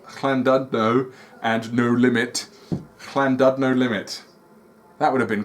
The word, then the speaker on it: Llandudno: pronunciation, because I believe the double L is like chla rather than just la. So it's Llandudno Limit. So it's Llandudno and No Limit. Llandudno Limit.